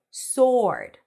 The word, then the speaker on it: sword: do do do and the word sword is pronounced without the w sword sword the silver dough